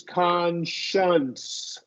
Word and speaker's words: conscience: And then the only difference here is it's conscience. Conscience.